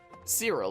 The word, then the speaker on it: Cyril: Cyril, that's how it's pronounced.